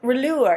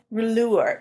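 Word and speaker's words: Rouleur: blond let me see rure it's r o u l e u r rure it's it's local to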